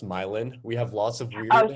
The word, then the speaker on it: Milan: Yeah, so further west, you'll see homes that are, so Milan, we actually pronounce Milan.